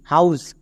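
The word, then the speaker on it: house: তাই এখানে H silent থাকবে না। এখানে এইচ এর উচ্চারণ হবে।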